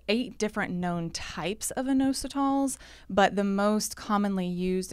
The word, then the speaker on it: inositol: as me and uh and that topic is inositol my first question is did I even pronounce that right you did you did good